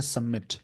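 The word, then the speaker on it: submit: बोलेंगे प्रोड्यूस करना बोलेंगे सबमिट लिखते हैं पढ़ते हैं सबमिट बी साइलेंट होता है दैट स्टैंप हैपेंड जो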